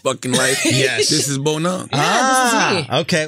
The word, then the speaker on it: Bonang: Cause I was saying Bonang, but it's Bonang.